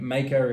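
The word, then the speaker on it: Maeka: and make a standard and maker is it's spelled m-a-e-k-a um it is live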